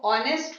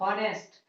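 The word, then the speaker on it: honest: आपने देखा यहाँ पर कंसोनेंट है तो आपके हिसाब से सही है, लेकिन इसका जो प्रोनाउंसिएशन होता है वो ऑनेस्ट होता है, नॉट हॉनेस्ट।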